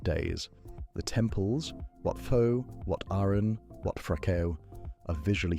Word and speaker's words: Wat Arun: The temples, Wat Pho, Wat Arun, Wat Phra Kaew, are visually stunning beyond what any photograph manages to convey. Wat Pho is said Wat Po-i, Wat Arun is said Wat Arun.